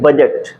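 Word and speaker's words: budget: जी ई टी ठीक है इसको क्या पढ़ते हैं बजट क्या पढ़ते हैं इसको बजट ब जट ठीक है इसको हम क्या पढ़ते हैं बजट इसका मतलब कि यहां भी डी हमारा क्या है साइलेंट है यहां भी डी क्या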